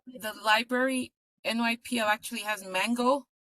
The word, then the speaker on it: Mango: NYPL card actually has Mango languages. So you can use your card and learn through one of the softwares there. Thank you. You're welcome. Are you pronouncing that like the fruit?